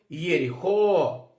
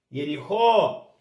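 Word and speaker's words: יריחו: Olha na transliteração. Yud, Shivá está iniciando a palavra, portanto, um Shivá vocálico, transliterado e pronunciado até então. Aqui o Resh, meu R. E aqui eu tenho um Yud, um Hirek Yud, tá, pessoal? Que é o meu I longo, tá?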